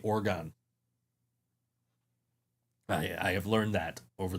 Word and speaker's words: Oregon: mad when I say Oregon. I have learned that over the years. I've had the people from Oregon say, no, you can't say Oregon. It's pronounced Oregon. Like Oregon. Like a human organ?